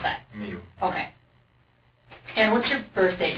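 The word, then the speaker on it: Miu: IU how do you spell how do you pronounce that me okay and what's your birthday do you like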